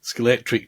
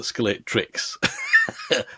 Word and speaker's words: Scalextric: it was announced that Scalextric, and I'm saying it correctly, they tweeted today, little aside, Scalextric tweeted today saying, "Good morning, everybody, except those who call it Scalextrics."